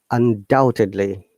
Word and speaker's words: undoubtedly: Undoubtedly.